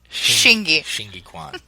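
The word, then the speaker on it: Xingyiquan: Jingi Quan? They pronounce that, sure. It's like Shingi. Shingi Quan.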